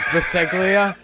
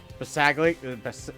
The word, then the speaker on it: Bisaccia: Yeah, Bisaglia. It's Rich. I'll give you Rich. Rich Bisaglia. There's no L. Bisaccia.